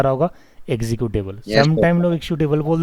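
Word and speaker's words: executable: क्या बोलते हैं एग्जीक्यूटेबल देखो यहां पर एक सी जो है वो आधा मतलब ज का उच्चारण होगा यहां पे श नहीं होगा ज आएगा यहां पे एक् ी है ना एग्जीक्यूटेबल क्या होगा एग्जीक्यूटेबल का और ज दोनों मिलेगा एग्जीक्यूटेबल जैसे मैं बोल रहा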